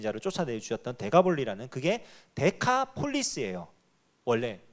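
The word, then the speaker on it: Decapolis: 데가볼리라는 지명 혹시 들어보셨나요? 기억나시죠? 예수님께서 거기 이렇게 귀신 그 무덤 사이에 있는 귀신 들린 자를 쫓아내 주셨던 데가볼리라는, 그게 데카폴리스예요. 원래 발음이 데카가 10이라는 뜻이고요.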